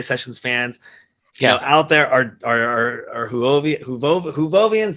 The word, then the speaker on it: Whovians: And I hope a lot of our DJ Sessions fans, out there are Whovians. Do I say that right? Did I say it right? Yeah, Whovians, yes. Whovians, thank you.